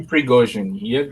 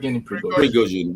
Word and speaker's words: Prigozhin: Was the correct pronunciation? Yevgeny Prigozhin. Prigozhin.